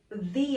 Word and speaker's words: the: be the apple and listen to my pronunciation this time i'm saying the apple and that's because this is a vowel sound so if the word following the article starts with a vowel sound i pronounce the the the apple in this example i'm